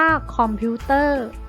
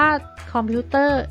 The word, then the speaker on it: คอมพิวเตอร์: กำกับ นะ คะ พนัง คำ ว่า คอมพิวเตอร์ นะ คะ เป็น รอ การันต์ นะ คะ อีก ตัว อย่าง